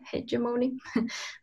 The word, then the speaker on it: hegemony: other question is the issue of cultural hegemony i think that's how you pronounce it right hey germoni that's right which was very poignant